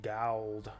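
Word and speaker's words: Gald: fights or excuse me G it's pronounced gal I like to think that gal is just their way of saying gold with like an accent it's like oh new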